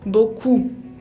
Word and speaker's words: beaucoup: tener en la palabra beaucoup. Beaucoup. Acá tienen combinaciones de vocales. Beaucoup. La P final no se pronuncia. Otra letra que no se pronuncia es la T, otra